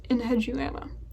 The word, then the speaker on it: Enheduana: But getting to my list, okay, I had to look up how to pronounce this. Enheduana? Does that look right? Enheduana.